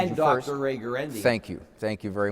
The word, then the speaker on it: Guarendi: Ray Guarendi. Thank you. Thank you very much. I'm surprised you pronounced the name correctly. It's very hard. It's Last an time Italian he said Roy Ganuti.